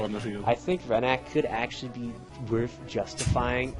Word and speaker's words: Rennac: Yeah, that's how you pronounce his name. Rennac.